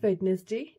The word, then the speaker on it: Wednesday: हैं जो कि है WEDNESDAY. Wednesday? No, it's not Wednesday, it's Wednesday. D is silent, it's Wednesday.